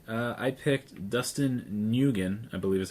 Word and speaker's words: Nguyen: I picked Dustin Nguyen, I believe is how you say his name, for Descender. I think it's Win.